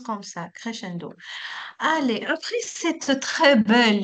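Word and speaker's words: crescendo: D'accord, c'est un mot italien. Oui, on le prononce comme ça. Crchendo.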